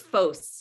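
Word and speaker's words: Vos: pronounced Bose loss it's foes yeah it Dutch it's both most Americans would probably say boss yeah but either way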